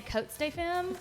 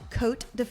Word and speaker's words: Cotes De Femme: cuz I always say coat St fim that is not how you say it is it technically it's pronounced coat def the S is silent like they pronounce it